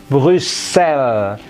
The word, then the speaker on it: Bruxelles: Nulisnya Bruxelles, dibacanya Brussels. X-nya menjadi double S, Brussels. Ini L seperti dia perempuan, she. S di ujung tidak dibunyikan.